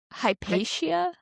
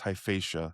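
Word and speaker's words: Hyphaetia: Did you say this place was called Hypatia? No, but it's loosely related. It's Hyphatia. Hyphatia.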